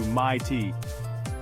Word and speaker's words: mate: The I in night sounds more like noity, and mate gets stretched into my tea.